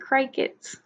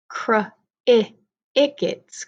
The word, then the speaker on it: crickets: it screech cry kits is it cry kits no see that one isn't a long I what creaks not cry kits but crickets crickets creak now I'm showing